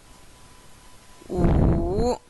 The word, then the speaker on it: 五: 五. This tone is down, then up.